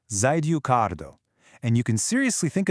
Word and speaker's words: 在留カード: In Japanese, it's called the Zidukardo, pronounced Zidukardo.